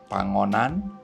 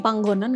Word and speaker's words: Panggonan: tahun ini Ya dengan film pangonan wingit panggonan enggak sih Oh iya panggonan wingit du soalnya g-nya dua jadi aku bacanya panggonan jadi ini adalah sequel